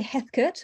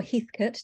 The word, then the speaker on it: Heathcote: about next quarter um it is Harry Heckert or heathcote depending on how you pronounce it of Gango oil which